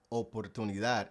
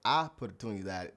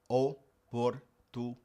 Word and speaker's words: oportunidad: Now in Spanish, the word oportunidad, you have to pronounce it with an O. If you say oportunidad, that word doesn't exist. Oportunidad.